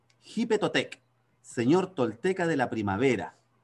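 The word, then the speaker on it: Xipe Totec: Acuérdense que México es con X, ellos pronuncian la X no como nosotros, sino que como una J. Jipetotec, señor tolteca de la primavera.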